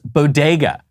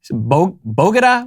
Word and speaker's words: bodega: at racial pandering now they can't even pronounce bodega what did she say bogada what are the bogatas